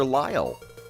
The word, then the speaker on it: Lyall: Lyall. Lyel spelled like isle with an L at the front.